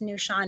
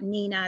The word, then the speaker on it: Nooshan: It's not, it's Nooshan, it's not Nina, it's not Nancy, it's not, you know, just say the name correctly.